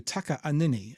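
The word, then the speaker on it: Takaanini: to change it to Taka anini it's t a k a a n i n i and it is pronounced with the split in it um I believe that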